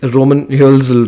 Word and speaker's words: Roman Hölzl: uh did i pronounce your name correctly it's roman hilsel right how do you pronounce it yeah yeah that's that's correct okay